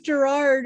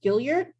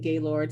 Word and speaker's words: Gailliard: Ah, I really thought it was Gerard or something like that. So I feel really bad. It's Gaylord. yeah, actually it's French. It's actually pronounced Gailliard. Gailliard. Okay. Yeah, in New York, we call it Gaylord.